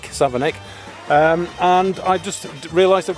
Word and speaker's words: Savernake: I'm currently in Savernake Forest, or Savernake, whichever way you want to pronounce it. The locals call it Savernake, even though it's written Nake, Savernake.